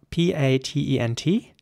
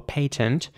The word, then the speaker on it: patent: The next word is spelled P-A-T-E-N-T. In British English, this would be pronounced patent or patent.